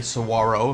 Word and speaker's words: Saguaro: learned that the main Cactus the Saguaro to pronounce the G Saguaro means Soldier they're everywhere and it's wonderful they're